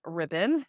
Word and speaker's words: Ripon: It is pronounced Ripon.